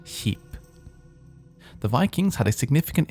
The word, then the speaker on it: skip: Ship, as in a large boat, is spelled ship, whereas in Norwegian it's spelled skip and pronounced sheep.